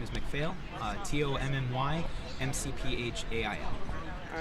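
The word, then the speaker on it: McPhail: oh there's some last name for me and spell it out absolutely uh my first name is tommy and my last name is macphail t-o-m-n-y m-c-p-h-a-i-l all right tommy um what's your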